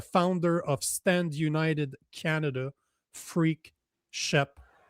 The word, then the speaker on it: Freak: point I get used to it, but it's pronounced freak.